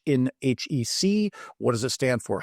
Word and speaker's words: HEC: Now, the purists, I may slip here a few times today and call it HEC. For the purists, it is 3 syllables, not 1.